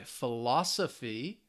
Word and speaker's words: philosophy: you can hear it so my philosophy remember it ends with the the phy that third to last syllable philosophy my philosophy teacher